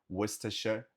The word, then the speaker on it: Worcestershire: E esse condado falamos Worcestershire. Worcestershire, Worcestershire, Worcester, Worcester, Worcester, Worcester. Você pode falar só antes de Worcester, Worcester, Worcestershire, Worcestershire, Worcestershire. E o nome do molho é Worcestershire Sauce, Worcestershire Sauce, Worcestershire Sauce.